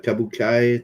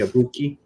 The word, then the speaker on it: Kabuki: Seems like a kabukai type of theater type of thing. Yeah. I don't know. I just found it hilarious. Kabuki, I think it's pronounced.